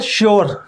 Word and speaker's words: sure: अगर वर्ड के अंत में URE हो तो योर या अर की आवाज़ निकालता है।